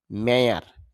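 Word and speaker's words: mayor: মেইবি সম্ভবত বা হয়তো, দুইটার মধ্যে পার্থক্য আছে, এই মে আর এই মেয়ের মধ্যে পার্থক্য রয়েছে। মেয়ার যদি আমরা মেয়র বলে থাকি তবে শুদ্ধ উচ্চারণ মেয়ার, তার বাংলা হবে মেয়র। মি আমাকে।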